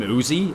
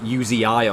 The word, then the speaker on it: Uzi: that video but apparently you're not even supposed to call him Uzi like he's not named after the gun you're supposed to say like uzii or something so that's just like